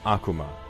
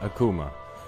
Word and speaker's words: Akuma: kindred my name is vox akuma not akuma i pronounce it wrong myself sometimes although you're welcome to pronounce it whichever way you'd like it's a mixture of